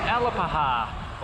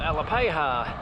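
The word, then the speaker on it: Alapaha: are evolving into its Ella paja or Ella paja or Ella pay ha however you pronounce it here we go the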